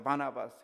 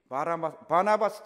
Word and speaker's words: 바나바스: 바나바스. 그래서 제 이름이 바나바스. 발음을 잘 하셔야 돼요. 바라바가 아니고 바나바스 차이가 됐습니다.